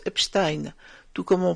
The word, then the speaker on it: Epstein: J'ai également voulu entendre la façon dont les Allemands eux-mêmes prononcent ce nom, et ils disent bien Epstein, comme démontré dans cette vidéo. Die ganze Welt schaut auf die Epstein-Files. Alors dorénavant, moi aussi je prononcerai Epstein.